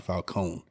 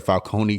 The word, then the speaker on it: Falcone: those who don't know it's supposed to be pronounced Carmine Falone I don't know where the Falcone came from but it it's because